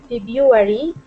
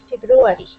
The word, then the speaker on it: February: go ahead shotan okay don't say febru February do say February comment we don't let two syllables in succession with an R so some of us dump the first one in this word most the most dictionaries now accept the single R pronunciation but if you have